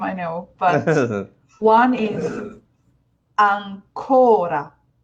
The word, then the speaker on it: ancora: For example, these two words, I know they're spelled the same, I know, but one is ancora. I'm putting the main stress on the O.